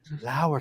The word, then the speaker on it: Lauer: I'll say, Lauer taught me. So, because spelled like lower.